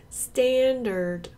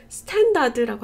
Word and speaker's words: standard: Nectar, solar, solar, molar, molar, molar, cedar, cedar, standard, standard. 여러분들이 여기서 이제까지 R 발음하신 거 뭐였어요?